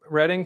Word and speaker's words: Reading: Well, are you familiar with uh with uh sorry with um reading reading Pennsylvania? Is that how you pronounce it?